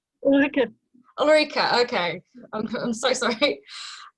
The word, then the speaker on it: Ulrike: How do you pronounce your name? Ulrike.